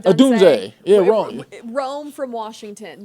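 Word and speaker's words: Odunze: So that we don't know how to say his name, but Adunze. Adunze.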